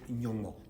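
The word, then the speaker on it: Nyongmo: We say Nyongo. Nyongo means God. Spell it.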